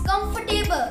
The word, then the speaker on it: comfortable: it's cupboard cup comfortable my dear friend you're wrong it's comfortable com comfortable ker no no